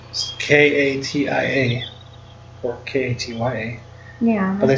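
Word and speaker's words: Katjaa: Her name is Katya. They spell it strange because you would just think it's K-A-T-I-A. Or K-A-T-Y-A.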